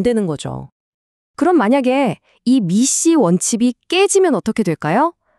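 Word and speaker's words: MECE: 바로 미시 원칙인데요. 미시라고 읽어요.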